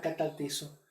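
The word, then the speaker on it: καταρτίζω: La palabra restauración es usando la palabra griega que se pronuncia como catartizo.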